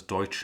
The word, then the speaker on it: Deutsch: And Deutsch is pronounced as Deutsch indeed.